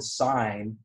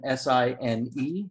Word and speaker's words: sine: And usually it's written S-I-N-E. That's the full name, but we abbreviate it S-I-N. But it's not pronounced sin. It is sine.